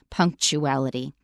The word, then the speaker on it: punctuality: We pronounce it as ch, punctuality.